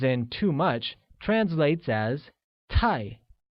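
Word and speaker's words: 太: too much translates as tie which is pronounced using a falling tone good hence I don't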